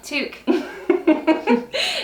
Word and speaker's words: toque: Okay, toque. And it is toque. That is how you say it.